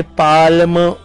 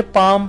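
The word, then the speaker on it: palm: समझ आ रहा है उसमें जो एल लिखा हुआ है उस एल की आवाज यानी पाल्म इस तरह से नहीं पढ़ते बल्कि उसे पाम पढ़ते हैं और एल जो लेटर है वो यहाँ पर साइलेंट होता है।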